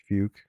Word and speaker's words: Fuch: Because they have that town with the weird name and then we were talking about the city that's Fuch, pronounced Fuke, and Google like banned it because it was too much like fuck.